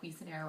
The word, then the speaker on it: Cuisenaire: teaching tools um especially for math which are quez and air rods. Um this is how it's spelled.